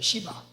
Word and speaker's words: 시바: 올 때는 발음을 세게 할지 몰라요 누구라고요 잘해 발음을 시바 발음이 시바야 이름도 안 좋아 근데이 사람이 서울과의